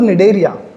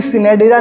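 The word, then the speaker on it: Cnidaria: सी लेंटा या उसको बोलूं निडरिया। सी साइलेंट है बेटा। कभी सिनेडेडरिया नहीं बोलेगा या फिर कभी कोलेंट्रिया नहीं बोलेगा। सी साइलेंट थोड़ा सा रखना है अपने को।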